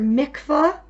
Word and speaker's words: mikvah: at all as possible the word mikvah just like it rhymes with the word tikva which you might be